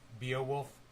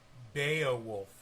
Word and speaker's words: Beowulf: King Hrothgar in Beowulf.